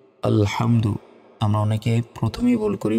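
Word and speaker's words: الحمد: হাম দাল পেশ দু আলহামদু আমরা অনেকে প্রথমেই ভুল করি বলি যে আলহামদু আলহামদু শব্দের অর্থ ধ্বংস হওয়া আর এখানে যেটা আছে এটা হচ্ছে আলহামদু বড় হা রয়েছে তো আলহামদু শব্দের অর্থ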